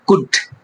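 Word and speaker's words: could: সি ও ইউ এল ডি, এখানে দেখতে পাচ্ছেন আপনারা ডি এর আগে এল আছে, তখন কিন্তু এলটা সাইলেন্ট থাকে। আমরা যখন পড়ি, এটা কি পড়ি আমরা? কুড।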